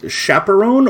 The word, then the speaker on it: Chaperon: Chaperone or chaperonnier or chaperon? Chaperon. Chaperon. French. So French.